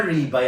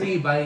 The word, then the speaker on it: rib eye: Akala ko ba ribay ang pag-pronounce? Hindi sir. Ribai.